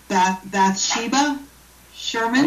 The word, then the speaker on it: Bathsheba Sherman: by, I know I'm going to get this name wrong, Bathsheba Sherman.